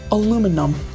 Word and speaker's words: aluminum: First one I'm going to go with aluminum. Aluminum. Aluminium. Aluminium. So, I think it's intuitive to to figure out either pronunciation of aluminum or aluminium.